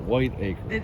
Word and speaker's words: Whitaker: Mark Whitaker what is that how whiter was originally spelled because yes some people pronounce that white acre right that's I